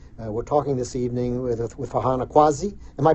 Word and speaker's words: Farhana Qazi: We're talking this evening with Farhana Qazi. Am I pronouncing your name correctly? I want to make sure I got that right. Yes, Farhana Qazi.